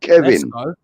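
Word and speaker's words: Caoimhín: It is pronounced Kevin.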